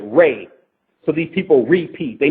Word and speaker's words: Ra: So then you got a dimension that everything is re, or as the Egyptians pronounce it, Ray.